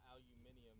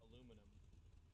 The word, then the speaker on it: aluminum: It's not aluminium. It's aluminum. Yeah. If you're going by dictionary and how it's spelled, it's aluminum.